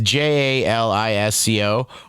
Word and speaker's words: Jalisco: At the heart of the synthetic drug crisis are the Sinaloa, and I know I'm not going to pronounce this right, Jalisco. It's Jalisco, Jalisco cartels and their associates who DEA is tracking worldwide.